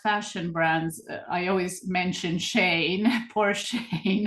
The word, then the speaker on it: Shein: Instead, some fast fashion brands, I always mention Shane. Poor Shane, it's getting all the blame. But Shane is, I'm not sure if you say Shane in the US, it's spelled Oh, Shein.